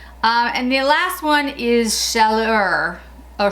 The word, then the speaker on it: Chaleur: And the last one is Chaleur, or Chalet. That's not how you pronounce it. It's C-H-A-L-E-U-R.